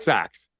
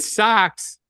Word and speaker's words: Sox: and socks, because of the way it's spelled, is not an S. It Right. sounds like it's an S, but Okay, it's not so SOCKS. right. It's SOX.